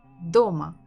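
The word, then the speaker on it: дома: thinking about stress DOMA Doma don't forget to repeat DOMA so have two syllables do and Ma which one has been stressed DOMA so if you feel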